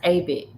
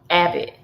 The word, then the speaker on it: Abbott: It's pronounced Abbott. Abbott.